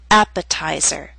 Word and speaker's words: appetizer: a true t attack appetizer and secretary are longer words they have both primary and secondary stress primary stress is at the beginning of these words but the T still falls on a stressed syllable it's secondary stress a little weaker but still stressed that's why it's still a true tea and we say appetizer